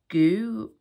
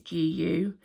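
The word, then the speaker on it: Gü: pie cheesecake it was from the brand goo I think it's gu how you pronounce it they come in little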